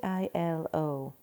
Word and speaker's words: Aiello: Danny I-L-O. Is that how you spell it? I-L-O? Yep. It's like E-L-O, but with Danny.